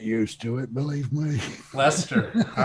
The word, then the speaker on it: Leicester: o okay so just lester we did the c in the middle is silent yeah okay that's that's an easy pronunciation it took carrie a while to get used to it believe me lester all right and that's